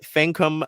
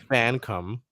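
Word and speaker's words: Fankam: Dulcie Fancom Mengiadu. Say it with me. Dulcie Fancom, like Fan come COME, Mengiadu.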